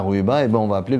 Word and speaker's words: Rouiba: le U et donc les Européens prononcé roviba et après quand on a dit Rouiba c'est on a toujours